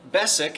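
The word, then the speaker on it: Beswick: let's wrap this beautiful bessick and i appreciate my friends from england who helped me with the pronunciation the w is silent this beautiful um basic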